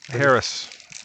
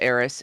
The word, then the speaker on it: Haris: grew up there haris Harris yeah the H is silent sorry it's actually pronounced AIS yeah like air like